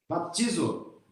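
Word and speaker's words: βαπτίζω: Mas como é que pronuncia em grego isso aqui? Baptizo.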